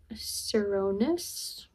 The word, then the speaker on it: Cernunnos: Artemis no thank you are we talking with serus that's how you say it the Celtic god